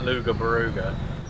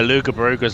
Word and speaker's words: Loughborough: We do like Luga Baruga. Oh no, Lugabaruga's a good place. See, that's how the rest of the country pronounces Loughborough.